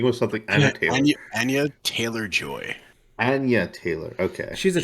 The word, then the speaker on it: Anya Taylor-Joy: Anna Taylor?